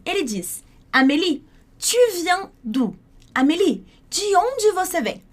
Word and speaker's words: d'où: Você percebeu que tem diferença entre o U de tu e de d'où? Então para dizer de onde, a gente tem d'où, que é exatamente o mesmo som do U no português.